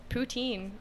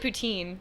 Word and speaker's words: poutine: I know it's you there's a careful line how to say it cuz if you say it wrong it's a it's a completely inappropriate thing I said poutine didn't I yeah you did say poutine and you're saying Putin wait there's a wrong way